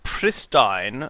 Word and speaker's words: pristine: It informs announcers that pristine rhymes with wine, respite is pronounced as if there were no E, combat is what you do when you fight with someone.